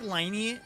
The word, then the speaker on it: Lyney: I feel like Lyney is like too ingrained in me. Cause like before he came out, we've like known, right? Their names, Lyney and Lynette.